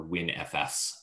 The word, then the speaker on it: WNFS: web native file system or win fs as you as you pronounce it uh that is it